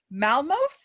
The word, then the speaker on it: Malmuth: Malmuth.